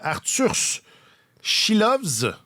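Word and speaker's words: Artūrs Silovs: Mais là, j'allais dire Arthur Chilovs. Oui, c'est important de bien prononcer les S en letton.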